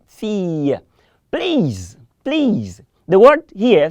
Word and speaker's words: fille: Please don't say feel. I'm hearing somebody saying feel. Say fille.